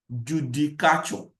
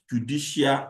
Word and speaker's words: Judicature: Judicature, not Judicial Act. So, Judicature is spelled as J-U.